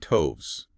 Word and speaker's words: toves: Okay, and toves. Rhymes with groves.